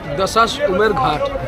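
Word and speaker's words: Dashashwamedh Ghat: Dashash Umer Ghat. How do you say? Dashash Umer Ghat. Dashash Umer Ghat.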